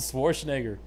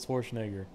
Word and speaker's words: Schwarzenegger: hearing you right Arnold Schwarzenegger how am I saying it wrong yeah that time you said it right anytime you just say normally like casually you say with an eye Arnold Schwarzenegger I don't I don't